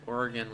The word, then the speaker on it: Oregon: don't think i think it's oregon like the state not organ like the instrument believe i've seen it